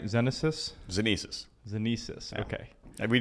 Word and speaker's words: Xenesis: So I think we should start us off with, I guess, the elevator pitch of what, am I pronouncing it right? Xenesis? Xenesis.